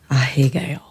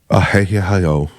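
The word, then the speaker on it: アヘ顔: Japanese, you have to pronounce all the letters. Ahegao. Ahegao.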